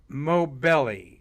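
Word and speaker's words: Moghbeli: here on women international women day uh jasmine mobelli is how you say her name o m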